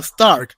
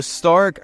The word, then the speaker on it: Stark: that episode too uh so Stark or Stark because we go with the German pronunciation um so Stark is